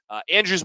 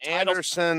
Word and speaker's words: Andrews: We appreciate our community sponsors, Allergy, Asthma, and Immunology, AllSweep, Andrews Monument, Capital Dental, Husker Power Products, the Anderson Oh, Monument. it's Andrews, Jack. You keep saying it wrong. It's Anderson. It's Andrews. Look, it's Andrews.